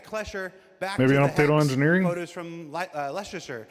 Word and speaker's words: Leicester: Uh, straight out of Kleser back engineering photos from Leicester. How do you say? Is that Leicester? Lester.